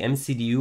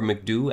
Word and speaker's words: MCDU: to start programming the mcdu or mcdew i've heard it pronounced both ways so you can call it however you want and we're going to